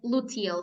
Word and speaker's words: luteal: I don't know how I can pronounce it. Luteal. Yes, luteal.